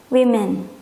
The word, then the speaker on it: women: Kalau wanita lebih dari satu, women. Nah, ini kan I. Lihat, ini O, A, bacanya ini U, ini E. Ini O, ini E, ini I gitu ya.